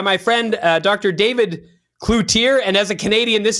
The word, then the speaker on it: Cloutier: David Cloutier and as a Canadian this is a very difficult thing for me to say. Uh we we always want to pronounce it in French.